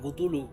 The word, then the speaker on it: Cthulhu: vivo el culto a Cthulhu. O a Cthulhu, como quieran decirlo. Cualquiera de las dos palabras está bien dicho. Porque en el fondo nadie sabe cómo se pronuncia esa cuestión.